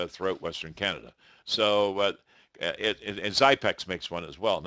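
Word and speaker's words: Xypex: So, and Zypex makes one as well, and that's spelled X-Y-P-E-X. It's like Xerox.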